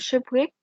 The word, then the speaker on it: shipwreck: is the meaning of shipwreck this w letter is silent okay okay so shipwreck